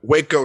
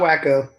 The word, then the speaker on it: Waco: pronounced this wrong but waco texas right yeah not wacko not wacko people call it that that wacko that wacko um so